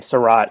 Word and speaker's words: Sarat: I pronounced her name Sarat in my mind. Is that how her name is actually pronounced? Yeah.